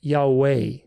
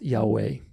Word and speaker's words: Yahweh: But it's not an like meh, it's a like be, Yahweh, Yahweh. And the accent is on the second syllable, Yahweh, Yahweh.